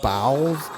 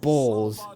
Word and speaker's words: bowels: didn't realize that I wanted him to say bowels, as in, you know what bowels are. But he said bowls, because I think bowls and bowels are spelled the same way, so...